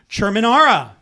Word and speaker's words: Cherminara: Let's show some love for Cherminara. Oh my goodness, the professional Italian pronunciation of my name and everything.